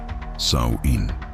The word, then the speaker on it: Samhain: Samhain, pronunciado Samhain, el final del verano, la muerte de la luz.